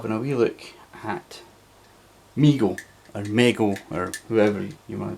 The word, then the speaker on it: Mego: look at migo or mego or whoever you want to pronounce it but you know reliably informed because pronounced migo now recently uh migo